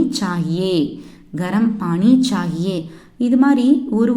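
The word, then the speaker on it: गा: பாட்டு, பாட்டு அப்படின்னா ஹிந்தியில் Keith, கீத்னா song, Keith, Keith, Keith, Keith. பாட்டு பாடுங்க, கீத் காவோ, கீத் காவோ. பாடு, பாடு அப்படின்னா கா. இது ஆக்சுவலி கா கிடையாது, க, க, க, க அப்படின்னு ப்ரொனவுன்ஸ் பண்ணணும். பாடு கா.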